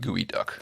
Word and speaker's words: geoduck: in the spheres it's it's spelt geoduck but it's pronounced gooey duck but do we know